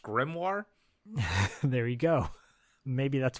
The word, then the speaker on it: grimoire: no no especially when Allan calls it a grimor when they're actually it's pronounced grimoire there you go maybe